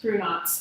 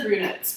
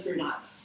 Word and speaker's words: Brunotts: Brunotts. Everybody says brunettes, but it's Brunotts.